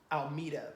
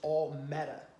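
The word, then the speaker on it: Almeta: passed back in January a lot of people pronounce her name Alita but it's not Alita it's all meta and anybody that knows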